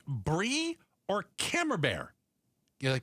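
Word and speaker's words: Camembert: You are forbidden from bringing creamy cheeses like Brie or Cammer Bear. You pronounce it right. Came bear.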